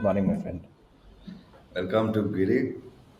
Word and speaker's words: Guirim: Apparently, the I am in most places Hmm. that the area names that end with I am is Hmm. like not pronounced. Oh, So interesting. it's Kandoli, not Kandolim. Oh, oh, wow. Okay. Yeah. And so similarly, it's Giri, not Guirim.